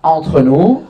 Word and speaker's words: entre nous: Entre nous. Ah, me gusta cómo lo pronuncias.